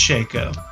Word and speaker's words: Shaco: is it Shaco or is it Shaco or chakra its Shaco I always go shake oh well like phonetically speaking it's sh big a co little oh yeah so I guess